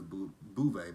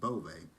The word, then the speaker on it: Beauvais: People say her name is Bouvet, but it's Beauvais because she corrected Andy last